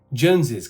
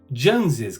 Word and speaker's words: Jones's: Jones Carr it would be appropriate if you pronounce it like Jones's car so I hope you can hear the